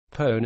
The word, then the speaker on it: pwn: known as session hijacking that term is called pone it is spelled pwn and it can be